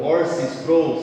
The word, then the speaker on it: R.C. Sproul: Um teólogo já falecido americano chamado Orson Sproul, se escreve R.C. Sproul, ele disse uma frase assim sensacional: o pecado é uma traição cósmica.